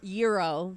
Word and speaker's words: gyro: I know what a gyro is yeah gyro it's pronounced Euro but yeah those are